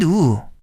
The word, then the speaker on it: ㅜ: I get confused between the pronunciation of o and u.